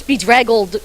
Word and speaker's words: bedraggled: I'd be like bedraggled try it again bedraggled okay it's be drag old prints and he one